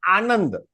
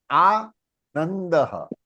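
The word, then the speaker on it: आनन्दः: वही रूल, ऊपर से उड़ा देंगे, द फॉल्स इन त वर्ग, अनुनासिका इज हाफ न, तो क्या बनेगा? आनंदः, आनंदः, नंदः, नंदः, नंद घेर आनंद भयो, नंद घेर आनंद भयो, नंद, नंद।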